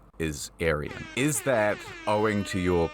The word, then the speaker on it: Aryan: And it is a Persian name. It's pronounced Aryan. Persian. You see, Aryan.